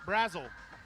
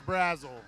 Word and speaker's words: Brazel: learn today is that I've been saying Boston's last name wrong all this time I was standing there as he was waiting to check in and he goes boston brat frazzle like who's this guy so apparently it's Brazel so I apologize to